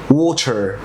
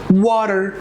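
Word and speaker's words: water: ماشي ماشي لو عايز انطقها برابر برونسيشن او نطق مظبوط اللي هو الطبيعي اللي هو بتاع الكشناري بتاع القاموس هنطقها ايه وتر هنطقها وتر دي كده النطق اللي انا لو فتحت القاموس هسمعها تمام ماشي ماشي ماشي طب انا هروح للامريكان اكسنت هيقول لك وتر ماشي ماشي ماشي نطقها واتر تمام ودي دي ليها رولز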